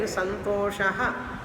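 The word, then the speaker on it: सन्तोषः: Before shakara, the visarga has to be pronounced fully.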